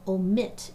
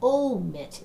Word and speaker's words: omit: we have to see which of these two syllables is accented when we say it which is said louder so do we say i'm going to omit it or do we say i'm going to omit it one thing that we can